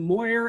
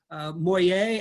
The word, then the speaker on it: Moyer: Dibert, de Turk, or the two biggest ones, we pronounce them Moyer and Boyer. Big names in this area. They would pronounce them Moyer and Boyer.